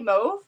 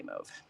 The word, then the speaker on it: mauve: couple Americans on here do you say moody mauve or mauve I've heard some Americans say mauve sounds that's strange you know as Canadians we take a lot of things from British so I think the British say move and that's why we say move Okay so we've got